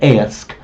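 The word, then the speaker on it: Oisc: Orch is probably his name. Some people pronounce it Ersk. Orch it seems to be.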